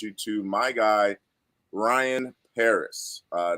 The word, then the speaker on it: Pereus: to my guy ryan paris uh not perry use it's paris pronounced just like the country uh my man ryan